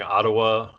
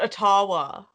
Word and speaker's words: Ottawa: of tucker carlson um pronouncing ottawa very strangely oh yeah he called it atawa yeah yeah he was